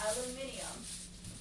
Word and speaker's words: aluminium: Say it like the British do. Aluminium. What'd you say? Aluminium? That's how you say it? That's how British people say it.